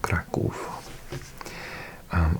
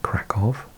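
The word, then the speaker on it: Kraków: So it's crack, but I I think in Britain we pronounce it crackov and in America I think it's pronounced krakow.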